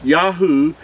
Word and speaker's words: Yahu: is referred to as but in ancient hebrew there was no v or w sound it was it was a ooh sound we're gonna prove this